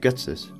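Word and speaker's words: Ghetsis: In German, the G note is pronounced G, and the note C sharp is pronounced as Tis, putting them together to create Getsis.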